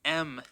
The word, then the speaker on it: em: which is using the M units em usually it's just pronounced M the origin of the